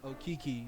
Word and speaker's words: Okeke: Last name is Okeke. That's spelled O-K-E-K-E.